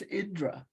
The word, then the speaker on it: Indra: I'm pretty sure I said it wrong. It's Indra, Indra.